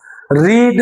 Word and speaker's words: read: नहीं, रीड, रेड, रेड पढ़ते हैं लेकिन स्पेलिंग सेम होता है, READ।